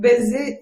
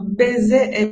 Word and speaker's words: baiser: n'a pas noté mais il ya une différence entre baiser mpc dans la prononciation importante ça veut dire mon pc par exemple baisser les rideaux la tête attention si vous venez à dire de baisse c'est quelque chose pas tout à fait la même chose surtout dont